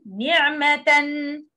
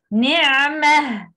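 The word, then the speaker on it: نعمة: Okay, like for example, ni'matan, and make al-wasl as the following letter. But when we stop, we have to say ni'mah. Ni'mah. We drop tanween and pronounce ha.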